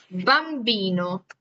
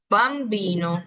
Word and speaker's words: bambino: ser si yo dico bambino. Bambino. Bambino, igual, lo tenemos que pronunciar prácticamente con los labios casi que pues pegados. ¿Por qué? Porque marcamos mucho el tema de la B.